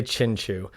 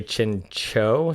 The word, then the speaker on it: Chinchou: it go away chinchu i say chinchu some people say chinchou some people say chin chow i can see that it ends in oh you and then some people